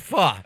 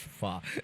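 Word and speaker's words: phở: It's pronounced it's pronounced pho. I heard you wrong. It's pronounced pho.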